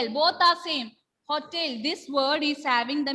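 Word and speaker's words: hôtel: Hotel. I am not saying hostel here. For the pronunciation is not hostel. It is hotel.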